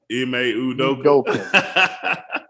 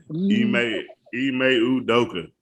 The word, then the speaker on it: Ime Udoka: Ime Udoka. Ime Udoka.